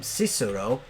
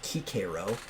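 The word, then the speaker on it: Cicero: uh they call him sisoro but he was pre-augustine so it would have been pronounced kikiro uh was a scholar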